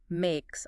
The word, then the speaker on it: makes: Makes also has an S sound, not Z. Makes, that seems common after a K sound.